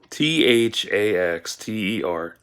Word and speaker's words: Thaxter: I threw into him called him faxed er Jones th ax ter Jones that's how you say his name Baxter Jones and for